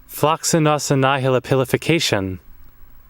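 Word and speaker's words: floccinaucinihilipilification: Okay, it's pronounced Flacus nos nihila pilaf cashin. The action or habit of estimating something as worthless. I don't think that's how it's pronounced, but I believe that you read that.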